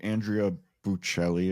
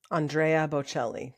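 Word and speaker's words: Andrea Bocelli: You know who Andrea Belli is? Andrea Bochelli, the opera singer. Kristen's so much better at pronunciation than I am.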